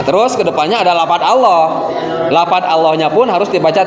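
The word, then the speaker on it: الله: Tapi kalau yang dibaca tafhim dalam pengucapan lafadz Allah itu adalah masuk ke huruf O.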